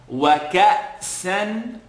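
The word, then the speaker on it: كأسا: So we're going to make, the kaf is being connected to a hamza with a sukoon. Not wa. Ka'san, double accent.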